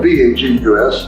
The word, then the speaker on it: vagus: And so a practice of yoga meditation stimulates our vagus nerve, that is pronounced like Las Vegas, but it's spelled V-A-G-U-S, and the vagus nerve